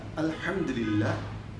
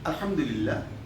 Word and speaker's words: Alhamdulillah: Here ha is a little bit harder for some boys, because some boys cannot pronounce accordingly. So if you try, I do believe also, if you try with concentration, you will be able to pronounce it correctly. Alhamdulillah. This ha is pronounced from the throat.